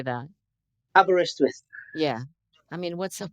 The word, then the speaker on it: Aberystwyth: I can't even pronounce it. It's Aberystwyth. How do you say that? Aberystwyth.